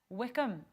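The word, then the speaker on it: Wycombe: action right after the sporty show today against Wickham Alex did I nail that pronunciation yes it was good it was good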